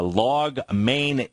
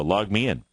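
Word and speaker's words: LogMeIn: to the upside uh log main Inc not sure if that's really the proper pronunciation LM is a ticker symbol they're up 23% here this morning they have logged me in oh thank you there we go log me in how about that that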